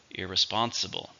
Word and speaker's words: irresponsible: syllables do you hear irresponsible five with a stress on the third syllable irresponsible drinking and driving